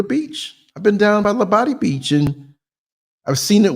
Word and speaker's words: Labadi: Okay, Labadi, Labadi.